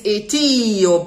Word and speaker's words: Etiope: It's Etiope. It's not Etiope, Etiope. The accent falls on the pre-penultimate syllable.